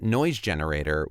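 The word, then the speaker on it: GNoiseGenerator: I do plan on Twitch streaming again, especially if Game Gear is a thing for me, at Noise Generator with a silent G at the front of it.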